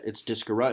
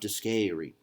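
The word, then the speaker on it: discere: So it's discora. It's not discary.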